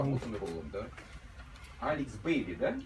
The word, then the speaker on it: Alex Bailey: Алекс Бейли, да? It's pronounced like this.